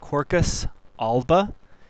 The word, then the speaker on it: Quercus alba: white oak pronounced circus albba.